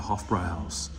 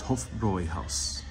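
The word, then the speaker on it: Hofbräuhaus: pronunciation of house uh you can't forget that umlot yeah yeah that's why many Americans will pronounce it Hofbrau house but it's hope for Roy house and uh Wendy yes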